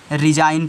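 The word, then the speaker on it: resign: आपको क्या करना है इसमें जो जी है इसका उच्चारण नहीं करना है इसको नहीं पढ़ना है इसको छोड़ देना है क्योंकि एन के पहले क्या आया है जी आया है तो इसको पढ़ोगे रिजा क्या पढ़ोगे रिजाइन पढ़ोगे बस बच्चों वीडियो को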